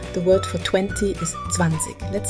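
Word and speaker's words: zwanzig: Beyond in German the word for 20 is zanik let's say it together now here's where it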